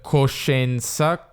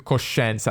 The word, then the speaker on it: coscienza: metti metti metti lì abbiamo al nord coscienza con nasce o coscienza e al centro sud coscienza e non voglio averti sulla coscienza e non voglio averti sulla coscienza e sentiamo che la parola coscienza dato che ha una vocale di sulla sulla coscienza diventa il centro sud sulla coscienza sulla coscienza tipo 1